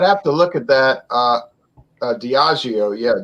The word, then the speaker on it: Diageo: Diageo, yeah, it's pronounced Diageo.